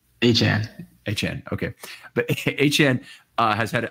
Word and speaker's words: Achane: They have a significantly negative EPA per play on runs, which is surprising given Achane, and I want to pronounce his name, but it's Achane, right? Achane.